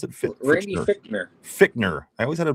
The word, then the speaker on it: Fichtner: How do you pronounce it? Randy Fichtner.